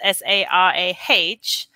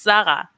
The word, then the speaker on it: Sarah: easily spelled it's s-a-r-a-h the pronunciation sarah is actually not my name that is not what i was called when i was growing up because the german pronunciation is zara which is a very different name so in it that